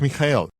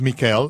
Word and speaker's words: Mijael: Mi nombre en hebreo es Mijael. Significa ¿quién es como él? Es Mikael en ruso, Miguel en español y Michael en inglés. Hay diferentes pronunciaciones dependiendo de los sonidos comunes de la lengua nativa, pero el nombre sigue siendo Mijael.